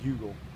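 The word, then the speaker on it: Heugel: Cannot say enough good things about Greg Hugel. I've learned his name, and I even know how to spell it, H-E-U-G-E-L, Hugel. So really proud of him.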